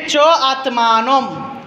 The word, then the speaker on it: চাত্মানম: হ্যাঁ, চ আত্মানম, চ আত্মানম, চাত্মানম লেখা না, এটাকে ভেঙে কি উচ্চারণ করব? চ আত্মানম।